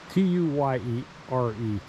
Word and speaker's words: tuyere: So there would have been an arch over here to accommodate the how is it pronounced? T-U-Y-E-R-E, Tuyere.